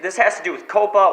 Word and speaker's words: COPPA: has to do with Coppa or Coppa how it's pronounced Co PPA and the FTC and